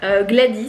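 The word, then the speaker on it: Gwladys: Oui, Gladys, ça s'écrit avec un W. Alors oui... c'est bizarre. Non, il ne se prononce pas.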